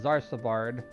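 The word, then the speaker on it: Xarcabard: We're headed towards Zarsabard. I think that's how you say that. Don't you pronounce X's with Z's, usually? Like xylophone. That's why I said Zarsabard.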